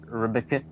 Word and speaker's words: RBC: yeah um or like RBC the Royal Bank of Canada I pronounce it reaba yeah